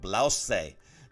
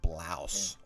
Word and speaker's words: blouse: learn spanish is that in spanish of course you want to pronounce that last syllable blase but in english it's silent isn't it just blouse one word english blouse